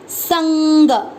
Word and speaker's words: संग: इधर देखिए स और अनंग, ये स पर एक बिंदी लगाएं जिसका उच्चारण होगा आधा न। संग, संग, ग पूरा ग में अ मिक्स किया, संग।